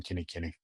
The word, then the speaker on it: Kinikini: You can find me by my name, spelled like lame, last name, Kenny Kenny.